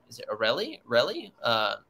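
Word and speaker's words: Relyea: Father Isaac – I might be mispronouncing his last name. Is it Aureli? Relly? Relia. It's called the – yeah, Relia.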